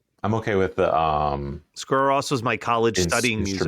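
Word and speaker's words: Sigur Rós: Is that how it's pronounced? I don't know. I always just pronounced it Sugar Rose. Sugar Rose. Friend of Sugar Ray. No, I believe I don't know who pronounced it to me like that, but I'm pretty sure it's pronounced Sigor Ross.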